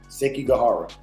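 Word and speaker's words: Sekigahara: Shout out on that one, too, cuz he said he asked me how to pronounce it. It's the battle of Seiki Gajara. Seek Gajara.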